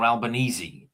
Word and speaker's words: Albanese: your your prime minister, Albanese, is it um how do you pronounce is it Albanese or Albanesei? This is what Alban Albanesei. It's Italian.